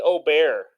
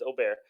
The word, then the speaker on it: Ober: go the first one Bailey o'bear I think that's how you pronounce it I know it sounds like really fancy but I don't think it's over I think it's Ober versus the Padres Padres